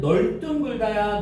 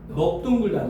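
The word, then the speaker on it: 넓둥글다: 넙둥글다 할 때 여기는 널둥글다야, 넙둥글다야? 넙둥글다는 거야.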